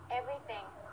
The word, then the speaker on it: everything: 이 발음은 저보다는 레이나 선생님의 발음으로 듣도록 해보겠습니다. 자, 전부다라고 하는 영어 단어를 한 번만 얘기해 주실 수 있으시겠습니까? Everything.